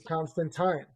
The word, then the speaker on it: Constantine: It's been mispronounced, but the proper pronunciation is Constantine.